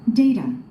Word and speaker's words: data: Data, data. 데이터 또는 데이다. 그러니까 자음 T하고 뒤에 모음이 연결되면 항상 발음이 순화되는 거 아시죠?